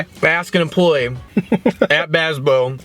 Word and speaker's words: Bazbeaux: I think we should start with Bazbeaux because we got it.